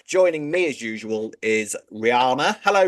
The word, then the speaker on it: Rihanna: Rihanna you behave yourself it's Rihanna not not Anna an RP mate RP